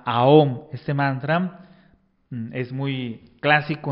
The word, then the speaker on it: aum: Y el éter, el mantram aum, se escribe aum, pero se pronuncia aom.